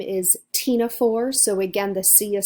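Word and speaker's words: Ctenophora: have comb jellies their file a name is Tina for so again the sea of silent we have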